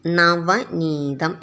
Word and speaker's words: നവനീതം: ഇത് നോക്കൂ നവനീതം കണ്ടോ നന്ന് എന്ന് ആദ്യത്തിൽ വരുന്ന നക്ക് വായിക്കണം പിന്നീട് ന എന്നും വായിക്കണം നവനീതം എന്നാണ് ഉച്ചരിക്കുക ന വനീതം നവനീതം ഇത്